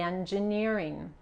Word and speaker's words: engineering: The documentation of the engineering. En este caso la G también se pronuncia como la J de inglés.